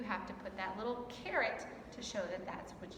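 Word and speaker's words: caret: they are up here this little symbol is called a carrot say that with me carrots just like the english word for sanoria carrot but it's spelled differently so a carrot shows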